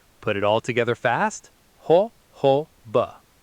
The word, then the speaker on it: jojoba: While people accidentally read it as jojoba, the standard American industry pronunciation is ho-ho-ba. First part, a funny laughing sound starting with an H or a long garden watering hose.